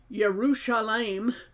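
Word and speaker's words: ירושלים: name meaning okay so as with Jerusalem pronounced yerushalaim from what he wrote here the Y turned into the J and the SH into an S this is just how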